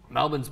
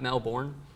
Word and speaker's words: Melbourne: you know it's pronounced Melbourne not Melbourne did you know that I'm pretty sure it's not the way you said it either no it's Melbourne Melbourne Melbourne yeah my parents do